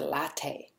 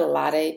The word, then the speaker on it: latte: So, for example, we don't flap the tea here. We don't say, "Could I have a latte, please?"